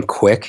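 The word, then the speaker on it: Kwik: for it it's actually jim quick you have to spell it right there it's jim k-w-i-k yep k-w-i-k dot com forward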